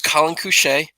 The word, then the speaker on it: Collin Cusce: about Who I am so my name is Colin coucher yes that's how you pronounce it it is I am a senior